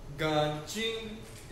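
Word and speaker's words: 干净: आई एन जी चिंग न चिंग गन चिंग गां चिंग इसका मतलब होता है क्लीन साफ सुथरा ठीक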